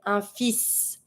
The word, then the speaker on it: fils: A son, careful, we're not going to say un fils. You're just not going to pronounce the L.